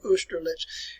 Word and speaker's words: Austerlitz: folks, it is a battle which is called Austerlitz. That's the way you pronounce it here, Austerlitz.